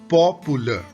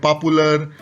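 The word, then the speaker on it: popular: पहला शब्द जो आप देख रहे हो वो है पॉपुलर। इट्स पॉपुलर। हम इसे अक्सर बोल देते हैं पॉपुलर या पॉपुलर। आर पर ज्यादा स्ट्रेस देते हैं हम लोग, तो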